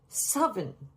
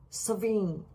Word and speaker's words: Samhuinn: So it's Samhain or Samhain, somewhere between a V and a W.